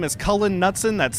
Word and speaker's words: Cullen: My name is Cullen Nutson.